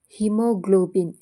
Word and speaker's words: haemoglobin: ಹಿಮೋಗ್ಲೋಬಿನ್. ಹಿಮೋಗ್ಲೋಬಿನ್ನಲ್ಲಿ HAEMOGLOBIN ಇದರಲ್ಲಿ ಎ ಅನ್ನುವಂಥದ್ದು silent ಆಗಿದೆ.